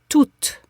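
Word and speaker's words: toute: always no exception pronounce toot toot toot very good so you have a t sound a o sound and then another T toot toot to yes it's important that you pronounce the final T the E and the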